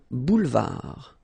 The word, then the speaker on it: boulevard: Final D not pronounced. Un boulevard.